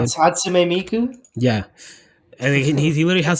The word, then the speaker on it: Hatsune Miku: Of like the man marrying like Hatsune Miku. That's how you say it? Hatsume Miku.